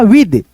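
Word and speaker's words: with: उसके बाद से यहाँ पे देखो आई, इसको पढ़ेंगे, ठीक है, विथ नहीं पढ़िएगा विद।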